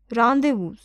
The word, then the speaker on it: rendezvous: Rendezvous, pronounced as rendezvous, means meeting place.